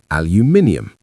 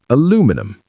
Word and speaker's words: aluminium: In British English, we normally say aluminium, aluminium, or aluminium, aluminium, aluminium. But this word can sound very different in North American English. Many people say aluminum, aluminum, with the stress on a different syllable. The spelling can also be different, reflecting this big pronunciation difference, so choose whichever you prefer, aluminium or aluminum.